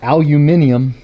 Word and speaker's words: aluminium: going to say it say it properly our aluminium radiator is vastly shorter so not just that